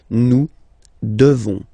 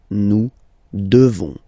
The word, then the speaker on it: devons: You just pronounce this on, this nasal. Okay? And then the S, final S is not pronounced. Nous devons. Nous devons.